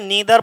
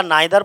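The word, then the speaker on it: neither: यदि दो या दो से अधिक सिंगुलर नाउन कैसे जुड़े हुए और और ईदर और, इसे ईदर पढ़ो या आइदर पढ़ो, इसे नीदर पढ़ो या नाइदर पढ़ो, तुम्हारी मर्जी।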